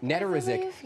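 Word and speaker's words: Nedoroscik: Nedorizic.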